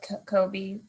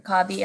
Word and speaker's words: Kobe: jeff let's start with kobe or cobby i apologize if i said your name wrong no no worries it is kobe and uh members trustees